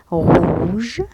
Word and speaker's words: rouge: rouge rouge rouge لماذا؟ لأن le O U ينطق O. rouge أحمر.